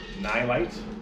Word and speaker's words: Nilight: i bought these uh nylite brand and i li ght nye lights that's how you say it uh light bars